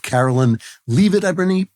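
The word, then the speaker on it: Karoline Leavitt: the magnificent debut of Carolyn L it I believe she pronounces her name Carolyn lit who is the youngest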